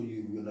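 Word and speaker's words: uvula: यूव्यूला, कोई कोई लोग इसे व्यूला भी प्रोनाउंस करते हैं, कहीं कहीं यू साइलेंट होता है, मगर मैं इसे यूव्यूला बोलता हूँ।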